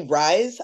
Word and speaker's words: Ryze: No, actually, Rise. It's spelled I know all about RYZE. Rise.